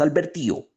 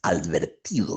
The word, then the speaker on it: advertido: naide pues ya estás alvertido esto es tan delicioso verdad ya estás alvertido y ni siquiera era alvertido lo que decía alverti adverti no la palabra es advertido Ya estás advertido pero